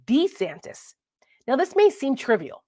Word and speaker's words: DeSantis: pronounces his name now I've been calling him Ron DeSantis right DeSantis but apparently Ron DeSantis pronounces his name Ron D santis now this may seem